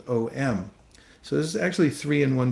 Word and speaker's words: Om: way that language works it's originally AUM but through the the rules of Sunday through various vowels get merged together it becomes om so this is actually